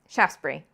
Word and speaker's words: Shaftesbury: So the reason why it gets hard for Americans is that we want to pronounce every syllable. So we want to say something like Shaftesbury or something like this. Shaftesbury. Just 2 syllables, really.